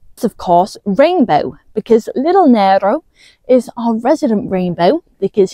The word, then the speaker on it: Nero: And it occurred to me that I keep on pronouncing Nero's name Nero. It is actually pronounced Nero, that's just how I say it.